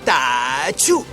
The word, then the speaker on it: Ah Chu: Yes, it is pronounced like that, just as you were sneezing When Mulan wakes up from his first morning with the army.